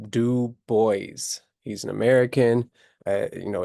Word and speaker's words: Du Bois: boys and it's pronounced du boys he's an American you know it looks like a French name or you might say du but don't say that it's du Bo and